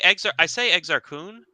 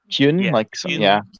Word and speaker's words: Exar Kun: But Kun sounds No, I say Exar Kun, but I don't go there's like a Y sound in it in the audiobooks, which is weird. Kyun, yeah.